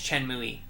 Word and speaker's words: Chen Mui: speak the language but i think it's pronounced chen mui yeah it is chen muy and shia yeah it's